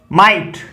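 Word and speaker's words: might: Sound आती है, लेकिन जीएच साइलेंट भी रहता है, अर्थात फै साउंड नहीं भी आती। जैसे दो एग्जांपल हमने लिखे हैं राइट और माइट। अब देखिए इसमें माइट इतना ही बोला जा रहा है, राइट इतना ही बोला जा रहा है, इसमें भी जीएच साइलेंट है, इसमें भी जीएच साइलेंट है।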